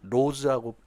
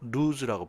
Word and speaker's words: lose: 발음 조심해야 되는게 로즈라고 발음 안 되고 루즈라고 발음하셔야 돼요.